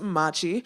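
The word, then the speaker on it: Mmachi: Once again, my name is Machi. That's 2 M's, ACHI. The 2 M's make a sound if you guys didn't peep that already with my original pronunciation.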